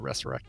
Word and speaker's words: resurrect: say it right okay I heard something in your maybe I said resurrect cuz it is re SS it is resurrect I'm just never act you're totally right probably correct it's probably more correct to have the esses and I've been saying it wrong when I say resurrect because there's no Z's in there yeah there there isn't